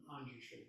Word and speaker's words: Manjushri: And then I realized I was not so far off when Manjushri, and I just said Manjushri, and Genev would point out to me that it's Manjushri, not Manjushri. Is that correct, Peg? Manjushri. Yes.